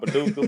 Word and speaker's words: Paducah: I had somebody today ask me how to spell it. It's a little town called Paducah, Paducah.